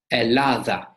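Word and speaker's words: Ελλάδα: go there later on, we do not pronounce it double. We just say it once. So it's not elada, it's just very soft.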